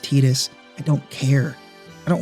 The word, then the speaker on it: Tidus: a deeply personal level Titus I know it's pronounced tetus I don't care I don't want to say tetus it makes me feel weird inside so we have Titus our charismatic sometimes overly enthusiastic protagonist who's been